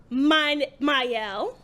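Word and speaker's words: Mielle: You know the one that's pronounced Myel. Me L.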